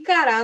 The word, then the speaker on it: cará: E cará no meu prato. Eu não sei o que é cará, mas eu sei que é uma comida e eu sei que cará tem a última sílaba tônica.